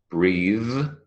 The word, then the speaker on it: breathe: two breaths and then the voiced thth sound this smooth brother those breathe not breath breathe and Northern I could